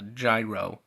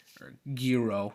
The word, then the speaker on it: gyro: parents made him a gyro giro depending on how you pronounce it instead of a